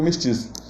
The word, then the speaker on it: mestizo: Existe na língua inglesa a palavra mestiço, né, se escreve mestizo, mas eles pronunciam mestiço.